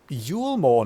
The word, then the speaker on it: Yulmore: You seem to have conducted an assessment of problems in Yulmore now.